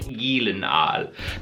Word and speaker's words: Gyllenhaal: of all time Jake Gyllenhaal if you wanna pronounce it correctly because it's actually Swedish is Jake Gyllenhaal anyway prisoners what's a